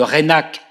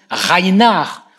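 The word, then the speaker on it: Reinach: de la même manière le baron de reynac reynac ça fait un peu périgord à la prononciation à la française armagnac rénale non on le prononce rhein art ou même fun reihnard ce qui d'ailleurs le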